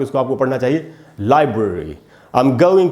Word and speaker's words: library: इसको हमको लाइब्रेरी नहीं बोलना चाहिए, लाइब्रेरी नहीं होगा दोस्तों। सही उच्चारण क्या है? लाइब्रेरी। ला में जो आ है उसी को मैंने अंडरलाइन किया है, वहीं पर स्ट्रेस है, वहीं ज़्यादा टाइम तक रुकना है आपको, इसको आपको पढ़ना चाहिए लाइब्रेरी।